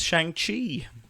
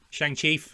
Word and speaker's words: Shang-Chi: Chief among them, I suppose, is Shang-Chi. Shang-Chi, I believe, is the best way to say it. Shang-Chi, is that how it's pronounced?